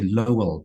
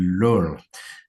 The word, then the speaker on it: Lowell: I say Lowell, but it's actually Lowell.